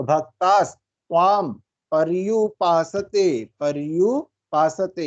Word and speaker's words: पर्युपासते: होती है, तो पर्यु, इसको थोड़ा वाइब्रेशन के साथ बोलते हैं, पर्यु पर्यु, इस तरह से आना चाहिए। अगर सही उच्चारण इसका होगा तो पर्युपासते, जब हम बोलते हैं थोड़ा सा जीभ वाइब्रेट होगी, पर्युपासते, ठीक है।